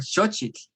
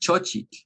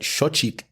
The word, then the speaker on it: xochitl: But if you're going to speak it in Nahuatl, then you want to try and make the native pronunciation. It's xo and chitl. And beginners will have difficulty with that because we want to assimilate those two sounds. We want to say xochitl or chochitl, one or the other.